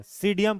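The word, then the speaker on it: Psidium: सीडियम ग्वाजावा ठीक है हां पी साइलेंट है क्यों क्यों साइलेंट है तो साइलेंट है। हां पी क्या है? साइलेंट है। सीडियम पढ़ते हैं इसको।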